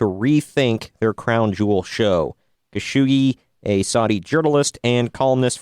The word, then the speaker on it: Khashoggi: Jamal, I'm going to butcher his name here, Khashoggi, I believe is how you say it.